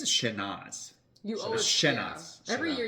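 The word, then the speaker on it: Chénas: sh yeah you you you keep the s a little silent but not totally silent right like this this area pronounces the last s a little bit right a little bit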